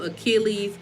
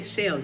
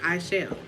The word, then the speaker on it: Aichelle: I be getting Achilles. There is no R in my name. It's Chelle. The A is silent. It's just Chelle.